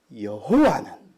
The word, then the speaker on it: 여호와: 첫 번째 말씀에서 1절에서 여호와는 나의 빛이요 여호와는 내 생명의 능력이다 여호와 또 다른 발음으로는 야외라고도 하지요 아마 저와 함께 예배를